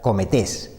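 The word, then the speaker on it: κομήτης: del griego y significa o su pronunciación sería la palabra cometes y su significado sería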